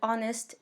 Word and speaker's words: honest: Le H de honest est en rouge parce qu'on ne le prononce pas.